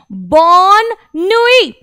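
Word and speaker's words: bonne nuit: फिर से आपने देखा नुई में हम लोगों ने लास्ट वर्ड का प्रोनाउंसिएशन नहीं करा क्योंकि उसके बाद कोई वॉवल नहीं था, सीधा कॉन्सोनेंट पर ही ये फिनिश हो रहा है, इसलिए ये हो गया आपका बॉननुई, बॉननुई यानी कि गुड नाइट।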